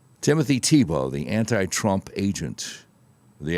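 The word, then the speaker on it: Thibault: It's French and they pronounce it TBO. Timothy Thibo, the anti-Trump agent of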